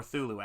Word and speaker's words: Cthulhu: Monster Rat Kin of Cthulhu, or Thulu, actually, properly pronounced.